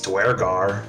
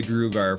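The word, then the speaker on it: Duergar: Hey, it wasn't until Baldur's Gate 3 I learned how to pronounce Dwergar, so... Yeah, I'm gonna say Drugar for the rest of my life and stick to that's it.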